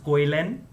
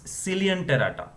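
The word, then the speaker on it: Coelenterata: Don't pronounce this koilen. It's Cilianterata.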